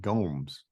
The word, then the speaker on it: Gomes: by him he said his name was Anthony Gomes don't that's how he's pronouncing it okay album's called high voltage Blues